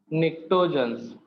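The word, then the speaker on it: pnictogens: P silent करके एन से start होता है नेम, मतलब प्रोनाउंस करोगे तो। निक्टोजन्स क्या बोलते हैं बेटा? पी साइलेंट रहेगा, बाकी सब वायलेंट है इसमें, तो क्या नेम है इसका बेटा?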